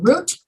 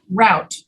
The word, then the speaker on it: route: pronounce this word route you can pronounce it either root or route it doesn't matter both are correct so you might say